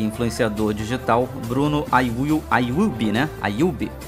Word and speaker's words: Ayub: Ayub, essa é a pronúncia certa, o famoso Monark.